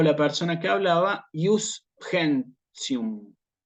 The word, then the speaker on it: gentium: Esto sí es el derecho de gentes, pero nosotros la G en latín no lo pronunciamos como en español. Esto que está acá. ¿Sí? Nosotros esto lo decimos como G, va a sonarnos en latín clásico, ¿sí? Como una G, como guiso, por ejemplo, ¿sí?